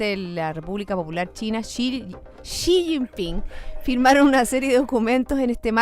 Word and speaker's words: Xi Jinping: Ya estamos de vuelta, estamos discutiendo cómo se pronuncian los nombres del presidente de China, Xi Jinping. Xi Jinping. Xi, es como Xuxa, XI.